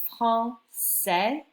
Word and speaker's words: français: you didn't have it, when the C is in front of an A or the C is in front of an O in French, you pronounce it a hard C sound, a K sound. All right. The minute that you put this CD underneath, it keeps it soft. It gives it an S sound. So you get français instead of franquais.